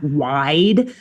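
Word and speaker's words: wyd: confusing the pronunciation of the Afrikaans word, the South African Afrikaans word, Uh-huh. wide, which is like WJD, and they pronounced it like Oh. white instead of Oh. or sorry, it's like WYJD. And so they were pronouncing it as white instead of wide.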